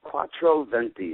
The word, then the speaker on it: Quattro Venti: Can you tell us a little bit about Quattro Venti, or however you pronounce it? Oh, it's Quattro Venti.